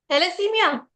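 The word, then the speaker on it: thalassemia: बेटा थैलेमिया नाम की जो बीमारी होती है वो मंगल के अंदर आती है।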